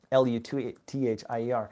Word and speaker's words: luthier: L-U-T-H-I-E-R. I think it's a French word, luthier, right? So anyways, luthier, as a English pronunciation would be.